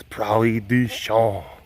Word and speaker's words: Prairie du Chien: Small town called Prairie du Chien. It's right. Or I guess the French pronunciation is Prairie du Chien.